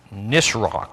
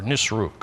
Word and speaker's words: Nisroch: One day while he was worshiping in the temple of his god, I guess that's pronounced Nisroch or Nisruk or something like that, Nisroch, not sure.